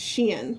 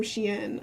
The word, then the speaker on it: Shein: It's not Shine.